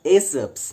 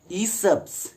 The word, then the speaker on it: Aesop: p apostrophe s but it would not be pronounced as a subs but it will be pronounced as e subs e subs apostrophe s that's why he subs